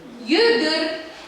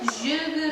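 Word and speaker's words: йөгер: Югыр. А почему многие говорят же? Это диалектика, а на самом деле с и кратким пишется югыр. Есть у нас такие диалекты, когда мы говорим жук, жюгыр.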